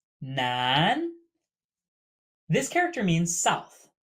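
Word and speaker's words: 南: Nan. Nan. This character means south. Note it is pronounced exactly like male or man.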